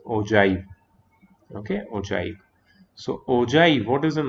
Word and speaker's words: ogive: is about oh joy some people they call it okay or something but it's not that it is it is pronounced as oh joy okay oh joy so